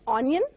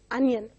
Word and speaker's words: onion: It is not onion, but it is onion.